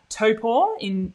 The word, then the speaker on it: Taupo: But I will be in Taupo at Ironman New Zealand. That's how you pronounce it, by the way.